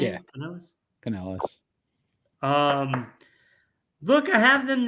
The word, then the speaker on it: Canales: Is that what I would pronounce his name? Yeah. Canales.